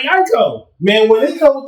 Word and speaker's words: Aiko: I said Janae Aiko. It's not Ico though.